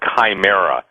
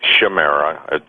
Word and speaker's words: chimera: belief system deals with this but the word chimera some people pronounce it shamera pronounce Chimera c h i m e r